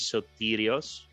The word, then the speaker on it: Sotirios: sure for sure okay so my name is sotirios um I'm telling this slowly because it's very hard for people to pronounce there is no short version but some